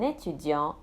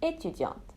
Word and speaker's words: étudiant: Un étudiant and une étudiante, a student. As you can hear, when the masculine ends in a consonant, that consonant is silent. But for the feminine, we pronounce it.